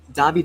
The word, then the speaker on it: Davide: Davide is 3 syllables. The accent, the hardest accent, is on the first syllable.